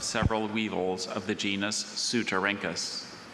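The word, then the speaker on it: Ceutorhynchus: Sylvia examined the beautifully translucent amber carropuses of several weevils of the genus Sutarinkus.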